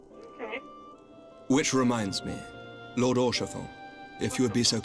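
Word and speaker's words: Haurchefant: Which reminds me, Lord Orchefon, if you would be so kind.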